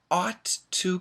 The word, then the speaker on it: ought to: ought to ought to it's an aw sound ought to and we put the T's together ought to but if